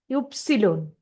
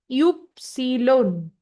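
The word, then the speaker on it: Ypsilon: English Y जो है वह जर्मन में उसको बोलते हैं युप्सिलोन। इंग्लिश का जो वाई है वो जर्मन में होता है युप्सिलोन। English Y is pronounced as युप्सिलोन in German.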